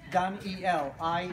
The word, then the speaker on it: Daniel: name I still almost the way you spell denied Daniel and remember it is Donyell ie l don laws e l it's like laws of God so L is oh